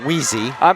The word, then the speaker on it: Weiss: It is going to be Jordan Weiss. I believe you pronounced that Whezzy. That's right. Whezzy. You told me that. I got to get that right.